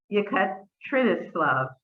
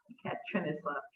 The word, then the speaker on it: Yekaterinoslav: his family lived in, Yekaterinoslav, I think is how you pronounce it, Yekaterinoslav.